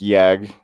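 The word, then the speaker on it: Jagd: Yes, I know it's pronounced Yag because for the J is Yag, but I just call it Jag because J is J.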